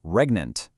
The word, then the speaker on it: regnant: Moving right along to word number three, regnant, pronounced regnant.